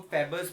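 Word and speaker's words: Pfeffer: और automatic oxygenometer को हम फेबर्स बोलते हैं, पी साइलेंट है, फेबर्स इंस्ट्रूमेंट है, और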